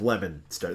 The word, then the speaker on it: Leominster: masters is called leominster which is actually spelled Leo Minster but it's leominster and so just that there's a town called leominster it was perfect this one is spelled lemon star this is yeah the way it sounds the way it sounds